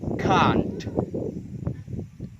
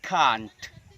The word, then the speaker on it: can't: cannot, yang awalnya dari cannot, maka cara membacanya adalah, ketika disingkat, cara membacanya adalah can't. Saya ulangi 3 kali. Dalam versi British, cara membacanya adalah can't, can't, can't.